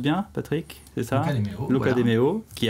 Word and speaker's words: Luca de Meo: Luca De Meo, je prononce bien Patrick, c'est ça? Luca De Meo.